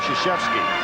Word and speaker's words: Krzyzewski: All right, it's not how you spell it, it's how you pronounce it. And I think most folks now it's called Krzyzewski.